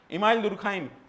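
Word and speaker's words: Émile Durkheim: इमाइल दुरखाइम French word है। अक्सर इसमें प्रोनाउंसिएशन में गड़बड़ होता है।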